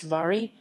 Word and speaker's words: Wari: harpur wary canned harper wary or wary pronounced vari is an annual pilgrimage yatra